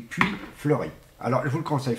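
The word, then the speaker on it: Puits Fleuri: Oui, du Puy Fleuri.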